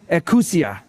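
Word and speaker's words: ἐξουσία: And I want to pronounce this right, exousia. Exousia, but some say ekousia.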